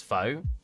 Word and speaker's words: faux: Faux? F-O? Would you say that's faux? How to pronounce... Faux. Faux, okay.